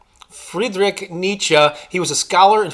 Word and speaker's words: Nietzsche: Not Thomas Edison, but I think I have the pronunciation correct here. It's Friedrich Nietzsche. Friedrich Nietzsche.